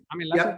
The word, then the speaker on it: Laschet: How do I pronounce that? Laschet, yeah.